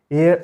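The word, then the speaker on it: heir: The stunted unlucky एयर of twisted, इसका pronunciation year नहीं होता, इसका प्रोनाउंसिएशन ठीक वैसा ही होता है जैसा एयर का होता है, AIR, ठीक वही प्रोनाउंसिएशन इसका होता है।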